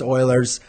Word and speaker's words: Euler: in there but yes i am aware it's oilers not the euler's i don't know why